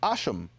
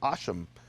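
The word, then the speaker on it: השם: of it we say hashem which in our pronunciation of of Hebrew is asham. They say in Aramaic shima which is the name. And in their Hebrew, their Samaritan Hebrew, they say asham, which is very interesting if you read 2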